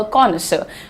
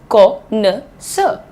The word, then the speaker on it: connoisseur: कैन be called a कॉनिसर। द pronunciation is connoisseur, connoisseur, right?